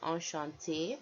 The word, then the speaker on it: enchanté: So the word is normally enchanté with one E at the end, and we're pronouncing this E because it has an accent over it.